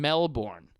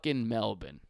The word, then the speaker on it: Melbourne: every breath every goes to New Orleans and Mel borne not Melbourne but anyways Australia fans that being said keeps